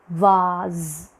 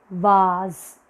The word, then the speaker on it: vase: there okay let's follow our colonizers so it's vaz vaz flower okay you say no diphthong you say